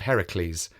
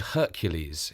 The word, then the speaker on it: Heracles: next 6 adventures of Heracles, the strong man of the ancient world. As I mentioned last time, he is sometimes called Hercules in Roman stories, but we are using the Greek pronunciation.